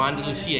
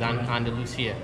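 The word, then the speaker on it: Andalucía: Con C, yes, but not with S. So Andalusia, you spell it, right? Mm-hmm. Yeah. Okay, because in English they say Andalusia. Yes. So this is the Spanish spelling, it's Andalusia.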